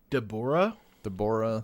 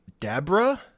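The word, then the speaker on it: Dabura: his name the uh they say dor dor but it's actually dabra as in Kadabra yeah yeah [ __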